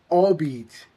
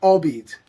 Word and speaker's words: albeit: So the correct pronunciation for this word is albeit. Albeit. Why albeit? Well, it's pronounced as one flowing unit with the stress on the first syllable, all.